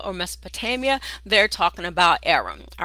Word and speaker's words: Aram: It is pronounced Aram, Aram, and it's where Balak was from.